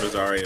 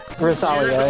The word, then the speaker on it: Rosalia: I like this Rosaria chick. She's pretty cool. Not Rosaria. I said her name wrong. I'm so sorry. Rosalia, yeah. Rosaria, yeah.